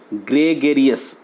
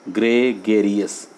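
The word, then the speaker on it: gregarious: ध्यान रखिएगा, इसका प्रोनाउंसिएशन देखिए, ग्रेगेरियस, GRE, ग्रेगेरियस, RIOUS, ग्रेगेरियस।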